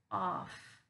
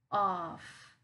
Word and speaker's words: off: this one up here we're gonna pronounce it with the ah ah so it's off off okay so up here